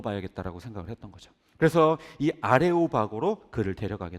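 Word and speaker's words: Ἄρειος Πάγος: 법원이라고 보기는 조금 그래요 원래 발음은 아레이오스 파고스이 원래 헬라어로 아레이오스 파고스 우리나라말로 차음을 해서 발음을 하다 보니까 아레오바고 됐는데 아레이오스 파고스 하는 이곳은요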